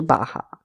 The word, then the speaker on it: baja: If we're talking about a she, we will change the adjective into baja. Both the words bajo and baja mean short. Also remember that J has the pronunciation of her.